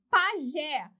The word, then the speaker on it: pajé: Pajé, pajé, 2 sílabas, última mais forte, terminada em E, acento.